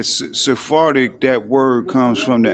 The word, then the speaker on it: Sephardic: I heard is like saying sphartic. Yeah. Sephardic.